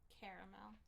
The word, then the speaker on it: caramel: Caramel corn. Caramel. Caramel. It's not from Carmel, Indiana. It's spelled caramel.